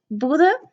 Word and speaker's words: Bodø: That's Norwegian letter, but it's Bodø, or it's written Bodø, but us Bodøværings usually pronounce it Bodø with an E instead, cause we're quirky.